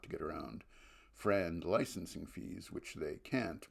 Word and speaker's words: FRAND: and non-discriminatory licensing fees, or FRAND, pronounced FRAND.